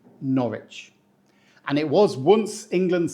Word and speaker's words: Norwich: this one we say Norwich we don't say Norwich or Norwick the W here is silent as if it's shy and doesn't want to interrupt so we just say Norwich and it was once